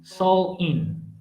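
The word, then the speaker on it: Samhain: the ancients celtic festival of samwen pronounced soul in the the celts celts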